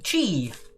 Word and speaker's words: qi: in kung fu is chi it's spelt qi but you say it is t male and